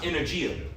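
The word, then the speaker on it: ἐνέργεια: When you bring this word working out in the Greek, the word is pronounced energia, or energy.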